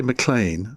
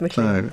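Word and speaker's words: Maclean: I always want to call say Mlan. No, don't. It's McLean.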